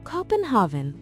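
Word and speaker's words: København: The Danes pronounced the name of their capital as Copenhav.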